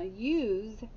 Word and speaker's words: use: use all right now use is tricky because it sounds like it starts with a y but it doesn't it starts with a u u s e u s e use now it sounds like it has what a y and then it sounds like it has what ooh and listen to the last sound yes what sound is that the z that's right and is the e